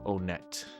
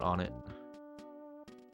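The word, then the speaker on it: Onett: Yeah, I believe Onet, in all seriousness, is the generally accepted pronunciation. But I always call it on it. I still kind of call it on it. One it, yeah, that's another one you hear. The Melee kids, I love the generational stuff.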